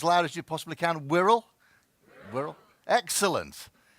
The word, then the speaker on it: Wirral: Wirral. Wirral. Excellent. Because lots of people say, how on earth do you pronounce this place? Because it's full of vowels and it's full of consonants, but Wirral it is.